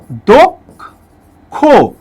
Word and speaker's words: দক্ষ: কয় মূর্ধন্য স থাকে, শব্দের শেষে যদি কয় মূর্ধন্য স থাকে, তাহলে অবশ্যই তার সঙ্গে একটা ও উচ্চারিত হয়। যেমন এখানে যেহেতু শেষে আছে সেই কারণে এর সাথে একটা ও উচ্চারণ হবে। এ কিন্তু পক্ষ না, এটা হচ্ছে পক্ষ, পক্ষ। ঠিক তেমনি এটা হচ্ছে দক্ষ। ঠিক আছে, এই যে দেখেন একটা ওকার রূপে উচ্চারিত হলো।